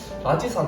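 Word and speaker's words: 拉脊山: 라지산 하면 중국에서 이 라지를 하면 좀 쓰레기라는 뜻을 가지고 있는 단어인데 그 한자는 아니고 발음이 똑같기 때문에 좀 오해하실 수도 있는데 이 라지산은 이제 해발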